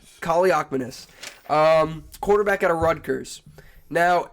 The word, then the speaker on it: Kaliakmanis: Because with the 7th round pick number 280, whatever, we have, hold on, let me get the pronunciation out. Ethan, Kaliakmanis. Kaliakmanis.